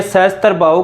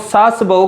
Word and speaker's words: सहस्त्र बाहु: लेकिन साथियों इस सहस्त्र का उच्चारण करने में या बोलने में लोगों को परेशानी होती थी, तो यह सहस्त्र करते करते इसे लोग सास बहू का मंदिर कहने लगे।